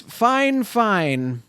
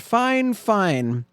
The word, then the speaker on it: Fifine: in their world it's fine fine and they made sure to tell me that they were like It's pronounced fine fine and to them I